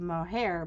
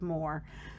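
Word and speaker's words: Moher: entire time i used i used to think they were called the cliffs of mohair but they're actually called the cliffs of moore um so i am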